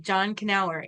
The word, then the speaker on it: Knauer: So we do pronounce the K. John Knauer. Okay, John Knauer.